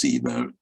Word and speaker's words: ceiba: It's pronounced ceiba, although it's spelled as though it might be pronounced in some other way.